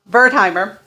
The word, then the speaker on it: Wertheimer: at the very least i know the w is pronounced as a v my german ancestors would be so ashamed of me i never learned the language um and so bertheimer uh he believed that